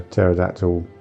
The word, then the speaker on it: pterodactyl: Well, we sort of said uh about the you can't hear a pterodactyl co toilet because the pee is silent.